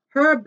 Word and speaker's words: Herb: Herb Garden. Pronounce that H.